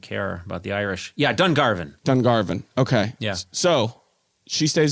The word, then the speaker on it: Dungarvan: Dungarvan? Dungarvan. You barbarian. Yeah. Yeah, I'm sorry. It's okay. Dungarvan. Sorry. Got a lot to prove. I guess I don't care about the Irish. Yeah, Dungarvan.